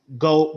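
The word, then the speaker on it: geaux: that spelling of um go go tigers that g-e-a-u g-e-a-u-x that's how you say that that say russo it's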